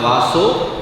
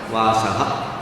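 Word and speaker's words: वासः: So in your books there is no print mistake. It has to be Narake niyatam vaso. But because of the 8th syllable we do the stop, pause. So there we have to apply sandhi vichheda. Therefore the O becomes aha. So instead of vaso, you have to read it as vasaha.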